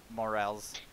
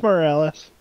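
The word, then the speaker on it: Morales: ps5 launch title spider-man miles morels i'm sure i butchered that i don't even give a yeah it did it's moralist yes thank you uh takes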